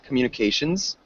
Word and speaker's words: communications: great job um Communications so make sure you get that z sound at the end Communications Communications good and then